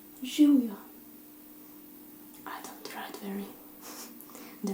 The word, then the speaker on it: živjo: Živjo. I don't write very... The writing is not perfect because it's quite strange. I hope you can see it, okay? It's živjo.